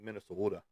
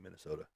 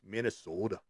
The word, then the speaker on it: Minnesota: go up to like Minnesota. You got to say it like that. You can't just say Minnesota. Sorry, that's just so boring. It's Minnesota. And uh uh Okay.